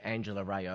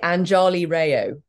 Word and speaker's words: Anjali Rao: can't pronounce your name Angela Rayo it's very easy it's very easy very easy it's usually Anjali Rao no it doesn't rhyme with mayo it rhymes with wow second of all do